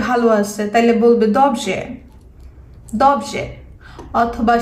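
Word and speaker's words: dobrze: সেক্ষেত্রে সে যদি বলে সে ভালো আছে, তাহলে বলবে দবজে, দবজে।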